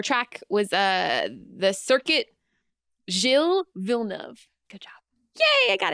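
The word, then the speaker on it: Gilles Villeneuve: Uh our circuit, our track was uh the circuit Jill Vilnov.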